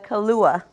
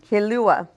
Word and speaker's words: Kilauea: Um it's it's pronounced uh Kilauea. Kilauea.